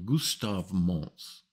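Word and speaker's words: Gustave Monce: Project, and I'm going to say his name properly because I hear so many people mispronounce it. Il s'appelle Gustave Mons.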